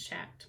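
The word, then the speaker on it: Schacht: to, I have a shocked ladybug. Naomi keeps telling me it's shacked, but I don't know. I like saying shocked better, so I'm going to keep saying it wrong.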